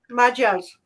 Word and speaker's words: Magyar: of, um, like you said, how do you pronounce it? The majors, Magyars, the major.